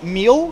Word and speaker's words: mil: 1,000 in Portuguese is mil, which of course rhymes with Abril or April, right?